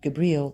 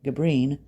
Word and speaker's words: Gibril: He had become very excited to learn that Gibril -- or Gibrin -- the guide for Henry Lott on his famous trip, would be his guide as well... Gibrin is the distorted European pronunciation for the name Gibril and also a play